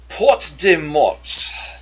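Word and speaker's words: Porte des Morts: Porte de Mort, Death's Door, I don't think you actually pronounced the S on that, sorry, is the passage between the tip of the Door County Peninsula and Washington Island.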